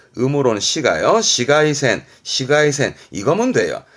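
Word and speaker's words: 紫外線: 그렇지, 이게 자외선, 발음은 시가이센, 음으로는 시가요. 시가이센, 시가이센, 이거면 돼요.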